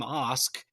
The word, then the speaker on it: Ask: You know, my last name is ask, like ask. It's pronounced Ask, in fact. So, I actually actually had team Osk, you know, shirts made.